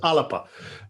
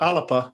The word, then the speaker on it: Alba: correct it asalapa uh aleppo is the garlic but alba's the ancient name for scotland the kingdom of alba but you're quite correct the garlic pronunciation's alipa uh so uh we'll be